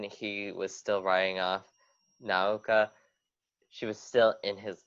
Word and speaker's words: Naoka: I agree with you because like, especially as you said, with oh my god, how do you pronounce her name? Naoka? Naoka, thank you.